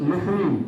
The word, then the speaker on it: listen: यहाँ पे भी देखिए टी जो है वो आपका साइलेंट रहता है, तो LISTEN लिसन।